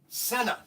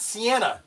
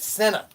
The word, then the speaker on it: Senna: This is the, now it's pronounced Senna, not Sienna, not Sienna, but Senna. Senna set.